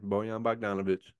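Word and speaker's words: Bojan Bogdanović: Bojan Bogdanovic.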